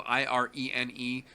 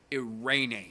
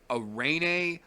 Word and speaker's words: Irene: me insane but that aside arraign a aldana it's spelled ir en e she is a Mexican fighter it is pronounced arraigning she has said said it many many many